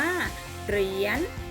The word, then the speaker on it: เหรียญ: อย่าง สวย งาม มี คำ นี้ อ่าน ว่า เหรียญ อ่าน ปาน นะ คะ เหรียญ เป็น คำ ควบ กล้ำ นะ คะ เรียน ก็